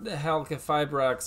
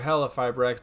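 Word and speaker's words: Halqifibrax: However, we did just get Needle Fiber, or Halcafibrax, or Halafibrax, depending on if you think that Q is silent or not.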